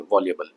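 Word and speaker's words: voluble: अगला शब्द है वॉल्यूबल, है ना, वॉल्यूबल एडजेक्टिव है और ये इसकी प्रोनाउंसिएशन होती है वॉल्यूबल।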